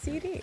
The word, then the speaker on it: C-D: It is supposed to be pronounced CD. But I also say it wrong. But That is true. I tell people nowadays, or CD. CD is technically the correct pronunciation of it, but I just let